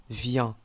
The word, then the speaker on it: vient: Recordamos que la S, la T, al fin de la palabra son letras mudas. No las pronunciamos. Miren que la primera base para conjugar este verbo, vient, ¿ok?